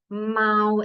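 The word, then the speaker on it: 猫: And the pinyin is showing you that Mao is the pronunciation of that word. And the tone marker above the letter A is showing you that it's in first tone. So it's a high, flat pitch for that word.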